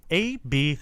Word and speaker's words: Abcde: such bullsh AB City her name is spelt a b c d e pronounced ab mean it could have